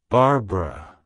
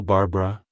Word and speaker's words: Barbara: wild it's pronounced as Barbara Barbara Barbara to pronounce it correctly emphasize the second syllable bar and use a short uh sound at the end avoid pronouncing the e